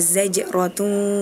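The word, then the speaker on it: زجرة: berbunyi bismillahirrahmanirrahim fainnama hiya zajratu wahidah. Nah, tadi di bagian kata ataupun lafal zajrotu tadi Azril kebalik ya bacanya jaz. Harusnya za dulu baru jim. Nah, tadi kebalik jim dulu baru za. Nah, itu nanti diperbaikin lagi.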